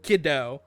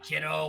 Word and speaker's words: Kido: I pronounce it as Kido, but Just say Kido. Kido with I just don't like, kiddo, what's up?